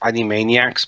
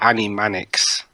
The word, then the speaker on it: Animaniacs: late 90s the announcer announced the name correctly at first Animaniacs but then later when he was actually announced in the program he called it Annie Mannix okay British pronunciations even though he got